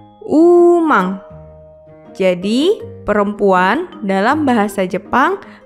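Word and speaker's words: ウーマン: Ditulis dengan huruf katakana jadi u, strip, ma, n, umang.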